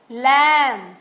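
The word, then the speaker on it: lamb: है यहां पर देखो इनम बी साइलेंट है लम हम लम बोलते हैं बम बोलते हैं कम बोलते हैं हम बी नहीं बोलते बट बी हर जगह है राइट यहां सी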